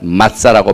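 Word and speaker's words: מַצָּה: 마짜라고 발음하는데 unleavened bread 혹은 cake 혹은 without leaven, 누룩이 없는 빵이다, 누룩이 없는 떡이다, 이렇게 무교병을 말하고 있습니다.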